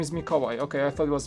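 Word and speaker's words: Mikołaj: your polish name is mikawai okay i thought it was miho sorry much see i would butcher that name and go make a large but uh mikawai that's the polish pronunciation it's like the equivalent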